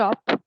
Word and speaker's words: shop: You visited your brother's Stop. shop. Yeah. So Yeah. that Yeah. will Stop. be, yeah. So you're saying shop. Okay. But shop is spelled SHOP. Okay. So SH is always pronounced sh.